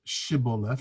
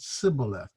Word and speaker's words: Shibboleth: But the Ephraimites couldn't pronounce it Shibboleth, they pronounced it Sibboleth.